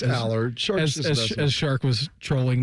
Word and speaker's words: Allar: will Howard yeah Drew Allard we'll see or allar however you pronounce it it's Allard shark as shark was